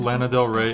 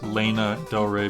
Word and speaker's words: Lana Del Rey: fans what they want I still pronounce to Lana Del Rey as Lena del Rey because of how a friend said it if that can happen